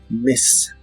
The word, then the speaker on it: miss: La I de esta palabra es corta y suena un poco como E. Miss, miss.